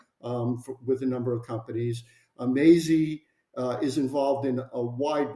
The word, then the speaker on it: Mazzei: It's actually pronounced Maisie, correct? That's correct. Yeah, that's correct. In fact, before I joined the company, I called it Maisie. But the name is Maisie.